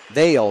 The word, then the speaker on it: Vale: Vale, that's Vale. Jasmine Vale. Yep, that's how they pronounce that.